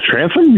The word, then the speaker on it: Transom: Am I pronouncing that correctly, Ben? Because I've heard it two ways. The transom?